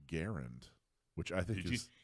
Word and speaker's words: Garand: including that cool shirt that says actually it's pronounced Garand which I think you just you got it